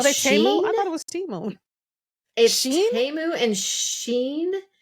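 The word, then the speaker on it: Shein: it was teu and Sheen which looks like shine is Sheen really they really because I'm like Sheen is really known for clothing I've been on there numerous times so they're looking at Sheen as one of their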